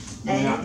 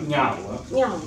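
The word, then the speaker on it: Ngau: My last name is Niao, a little hard for people to pronounce. Niao. Niao. Niao.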